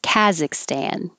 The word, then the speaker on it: Kazakhstan: 15 is difference and 16 deference the american pronunciation of this that i hear most often is kaz kazakhstan this took me a while because i kept